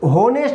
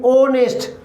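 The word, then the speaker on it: honest: ही इज एन ऑनेस्ट बॉय, अब यहाँ पे भी एच है मगर ये साइलेंट है, यहाँ पर ये होनेस्ट नहीं ओनेस्ट, ओ साउंड से इसकी शुरुआत हो रही, इसलिए हमने यहाँ एल लगाया।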